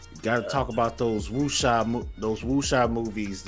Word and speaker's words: wuxia: I think that's how you pronounce it. It's WXIA or WUXIA. It's like the wuxia kung fu style that some of the greatest directors coming out of China. You're right, wuxia.